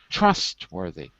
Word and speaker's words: trustworthy: trustworthy in this list notice the stress is on the first syllable trustworthy trustworthy you said it